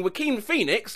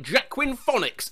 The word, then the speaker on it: Joaquin Phoenix: her she was an english teacher i've been pronouncing joaquin phoenix like jacquin phonics since 2002.